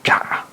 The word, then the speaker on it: 鲊: 炸这个字是多音字啊，也可以念成炸，炸的话就是一种海蜇了。